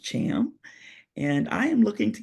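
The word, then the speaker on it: Tham: it's spelled t th h a m it's pronounced Cham and I am looking to get to Congress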